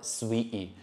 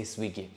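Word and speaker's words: Swieqi: slimmer saint julian's or sweetie this is in maltese pronunciation but i'm pretty sure when you read it you will say swiggy guys these are the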